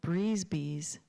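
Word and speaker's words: brise-bise: The craft store was offering a free class on how to make your own breeze bees for each customer who bought 10 yards of fabric.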